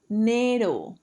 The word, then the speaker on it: dinero: The most universal way of saying money is dinero. Dinero. Remember that di is not die, is dinero.